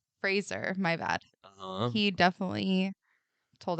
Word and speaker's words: Fraser: know come you know okay okay God Brendan Frazier Fraser my bad he definitely told everyone his name and how to pronounce it my son helped me connect with